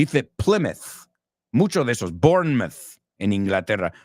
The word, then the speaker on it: Bournemouth: Mucho de esos, Bournemouth en Inglaterra. Los mouth, cuando es parte de una ciudad, es myth, como mito, right?